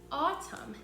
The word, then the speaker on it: autumn: We're in spring right now, but this book uses another word for fall and it's called autumn. It's spelled A-U-T-U-M-N, autumn.